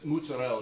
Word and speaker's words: mozzarella: But what this pizza is garlic, basil, fresh mozzarella, fontel, whatever it is, mozzarella is the right way to say it.